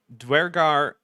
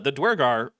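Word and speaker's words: Duergar: Also, the Dwergar, which is how I'm going to pronounce it, because that's how virtually everyone in the Anglosphere pronounces that word, and how it's spelled.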